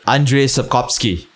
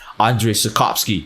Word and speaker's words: Andrzej Sapkowski: I even know how to pronounce the name of the author. Andrzej Sapkowski. Yo, I could be speaking Polish right now, man. Andrzej Sapkowski.